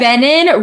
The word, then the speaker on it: venin: Venin rhymes with Brennan.